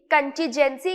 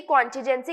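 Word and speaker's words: contingency: कंटीजेंसी, कॉन्टिजेंसी कुछ भी बोल सकते हैं, नाउन की तरह यूज किया जाता है, जिसका मतलब होता है आकस्मिकता।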